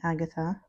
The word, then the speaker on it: Agathe: Um, I am not misspelling Agata. This is the way it is spelled with an E at the end.